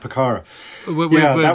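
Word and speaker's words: Pucará: are chasing that picara is that how you pronounce it a picardo yeah yeah that's right picara with Juan tombering and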